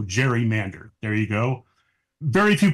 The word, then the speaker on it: gerrymander: a salamander and so they put together Gary and Mander and then we made a soft G so Jerry Mander there you go very